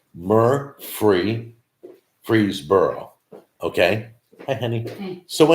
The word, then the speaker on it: Murfreesboro: It's correctly pronounced Murfreesboro.